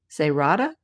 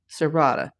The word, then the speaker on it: Cerrada: Cerrada? Serrada. English versus Spanish.